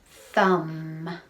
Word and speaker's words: thumb: at the start um spelled with an m and a b together is an n sound thumb i wonder if you